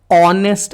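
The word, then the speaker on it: honest: है आपको देखने में लग रहा होगा कि ये H से स्टार्ट हुआ है, लेकिन H से स्टार्ट होने के बावजूद इसका जो प्रोनाउंसिएशन है वो क्या आ रहा है, ऑनेस्ट आ रहा है, ओ आ रहा है।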